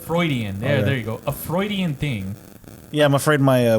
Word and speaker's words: Freudian: Fraudin, like, you know, they say Fraudin slip, like when your boobs pop out. Freudian slip? Freudian, there you go. A Freudian thing.